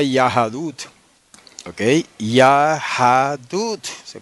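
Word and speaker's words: יהדות: se diga en hebreo yahadut no se dice yahadut entonces Okay eso se lee yahadut con una vocal pataj bajo la yod y otra pataj bajo la d no se dice yehud como debería ser si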